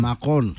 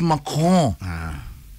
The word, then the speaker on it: Macron: Macron. Okay. It's Macron. Say Macron. Macron. Okay. Macron. Not Macron, Macron.